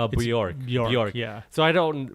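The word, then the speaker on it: Björk: You don't say the J. Bjork.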